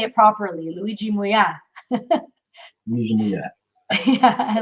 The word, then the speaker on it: Luigi Muia: Luigi Muia.